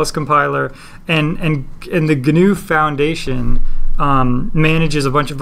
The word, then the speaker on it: GNU: two syllables, GNU. Oh, it is GNU. That's what Wikipedia's pronunciation key says.